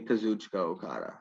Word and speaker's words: Kazuchika Okada: Some people also pronounce it Kazuchika, but I say Kazuchika Okada. Kazucha. Wait, how is it again? Kazucha Okada.